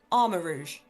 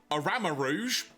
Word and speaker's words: Armarouge: Now, how are you pronouncing this? Armor Rouge. I would agree. Yeah. But just to piss you off, Arama Rouge. Okay, you've added letters, but okay.